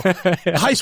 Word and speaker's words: Gijs: I know my name is spelled in a very weird name but way, but that's how we spell things with No, they're they're